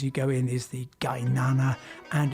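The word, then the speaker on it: Qaynana: The Gainana restaurant, spelt with a capital Q, because you'll see the Q quite a lot in Azerbaijani. You pronounce it like a G, a hard G.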